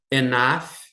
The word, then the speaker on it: enough: Enough money. Enough é suficiente. Esse GH a gente pronuncia quase como é, enough.